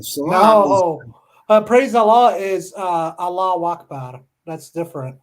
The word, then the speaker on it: Allahu Akbar: No, salam No, praise Allah is Allah Akbar. That's different. Allahu Akbar. Yeah. You say it 3 I'm a times. good pronunciation, aren't I?